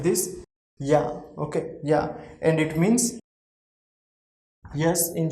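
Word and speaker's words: ja: yacht pronunciation is here that's why we will pronounce this is like this yeah okay yeah and it means yes in german language so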